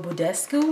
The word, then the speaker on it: Badescu: So, I finally pulled out my Mario Bescu, that's how you say it, Mario Badescu products.